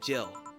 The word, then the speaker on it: Gil: take care of himself oh it's pronounced Jill I keep I have to keep reminding myself it's pronounced Jill otherwise that Jill and Jill joke when Jamie enters and says heel wouldn't land otherwise okay we'll forever be